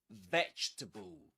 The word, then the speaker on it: vegetable: vegetable. You say it. And let's repeat the next word, too. Comfortable. Comfortable. Okay. Three syllables in both.